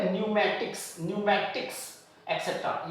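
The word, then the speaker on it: pneumatics: इसके अलावा यहां पर भी एन से पहले पी है तो पी साइलेंट है। तो इसको हम बोलेंगे न्यूमेटिक्स।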